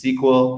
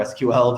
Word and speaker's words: SQL: spark as an example you can use sql or sql depending on how you like to pronounce it pi spark if